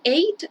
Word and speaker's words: eight: it age y ten esta palabra aquí eight se pronuncia igual que el número 88 ya para que sepan